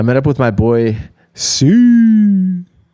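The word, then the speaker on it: Siu: I met up with my boy Sue S.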